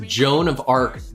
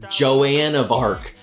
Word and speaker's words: Joan of Arc: comms earlier today and someone pronounced Joan of Arc Joanne of Arc and so that's that was what inspired that poll is I could not believe that someone thought that you would pronounce it Joanne of Arc oh 60 GT yeah